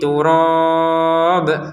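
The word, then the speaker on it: تُرَابٍ: Nah, misalkan begini kita berhenti di turab tadi ya, alaihi turab, maka bnya dipantulkan. Kalau memang berhentinya di sini, nanti ulangi lagi bnya sudah tidak ada pantulan karena mau digabungkan dengan yang setelahnya. Jadi bnya nanti ada harakatnya. Kalau kita berhenti maka harakatnya terbaca sukun.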